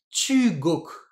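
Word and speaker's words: 中国: l'autre c'est coku alors je vais pas lire ça tuu coku je vais mettre un accent ce sera plus facile à lire ce sera tugok tugok tugok le pays du milieu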